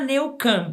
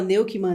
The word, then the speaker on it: Neukam: É Neucan mesmo, você falou certinho. A grande maioria das pessoas erra, então fala Neukman, todo mundo erra, mas você falou super bem.